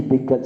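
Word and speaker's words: Bekandze: Bekatse, ça s'écrit Bekatse, ça se prononce Bekatse, mais ça ne s'écrit pas Bekatse, hein, ça s'écrit Bekadje, hein, en indien tibétain.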